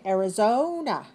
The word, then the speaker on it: Arizona: Okay. Arizona. 4 syllables. Stress the third.